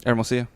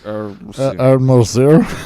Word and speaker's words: Hermosillo: You're like Hermosillo. It's a mouthful. And he tried to get me to say it by like syllable. Ed. Yeah, it's like Ed. Mo. See.